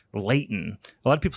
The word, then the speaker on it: Lehighton: I think it's pronounced Layton. A lot of people say Lehighton because it's spelled like Lehigh Valley, Lehighton, but I think it's pronounced Layton. I might be wrong.